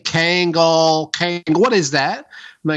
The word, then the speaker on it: Kangol: And of course, it's a Kangol, so it's or as you say it, urban Kango. There's no L. The L is silent.